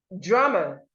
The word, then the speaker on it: drummer: Drummer, drummer. Remember what I told you about the letter U. It doesn't make the sound or, so you should not say drummer.